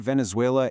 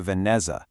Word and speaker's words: Venezuela: The word Venezuela is a perfect example. In the recording, it sounded a lot closer to Vanza. A whole syllable was dropped and some key consonant sounds were changed. That really alters the word's entire structure and frankly makes it pretty hard to understand.